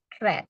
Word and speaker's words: read: Bentuk pertama read ya, tulisannya dengan bentuk kedua sama, hanya cara membacanya saja yang berbeda yaitu read. Red. Ya sama seperti kamu mengatakan warna merah red.